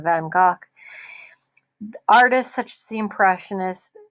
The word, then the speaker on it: Van Gogh: look at this artist vincent van gogh or actually the correct premise in pronunciation is vincent van gaal artists such as the